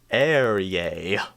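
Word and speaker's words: Ehrye: How do you pronounce his name? Eerie, I always Eerie.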